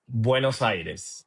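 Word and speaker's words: Buenos Aires: Give us the perfect pronunciation. Buenocides.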